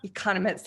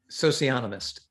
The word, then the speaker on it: socionomist: He basically, he is something called an economist. Not an economist. I'm saying it wrong, Peter, right out of the gate. Say it for me. Socionomist.